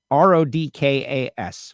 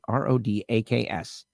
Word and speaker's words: Rodaks: RODKAS, right? RODAKS. I think I said it wrong.